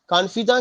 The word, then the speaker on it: confidante: कॉन्फिदा के बाद जो है एक और शब्द है कॉन्फिदी, CONFIDANTE, कॉन्फिदी।